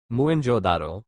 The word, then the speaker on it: मोहनजोदड़ो: पंजाब का हड़प्पा तथा सिंध का मोहनजोदड़ो मूल उच्चारण मुनजोदारों शाब्दिक अर्थ प्रेतों का टीला दोनों ही स्थल वर्तमान पाकिस्तान में है।